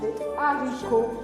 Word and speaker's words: haricots: Attention, on ne dit pas des haricots ou des haricots parce qu'en français, le H ne se prononce jamais. Le H devient A. Alors on dit les haricots.